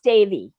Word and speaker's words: Devi: know what else uh devi is that her name her best friend they pronounce davey yeah dave she's such